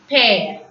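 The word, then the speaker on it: père: So P-E-R-E is pear.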